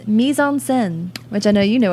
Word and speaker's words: mise en scène: Mise en scène. It's spelled Mise en scène.